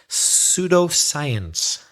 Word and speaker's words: pseudoscience: Pseudoscience. The first letter isn't S, it's P. It's a silent P. P-S-E-U-D-O, science, pseudoscience.